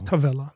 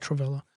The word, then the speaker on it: Tavella: Tavella, not Travella. Travella is a soccer move.